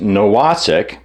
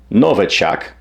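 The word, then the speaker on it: Nowacek: patterns the article cited Douglas NOK or perhaps properly pronounced Novak a professor of mine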